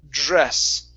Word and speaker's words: dress: Give me a JR sound. Dress. dress, Okay, almost, almost. Okay, so you're saying dress. So pronounce a J like the word job.